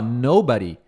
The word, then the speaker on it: nobody: Tenta falar o com o no fort, nobody, né? Aqui é body, body, tá? Body, body, nobody, but thought, nobody thought. Muit, a maioria das pessoas, até professores, fala nobody, né? No ba com a com a a sílaba forte no ba.